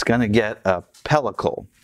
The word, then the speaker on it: pellicle: And now we are going to put it on a wire rack to dry, and it's going to get a pellicle, correct pronunciation.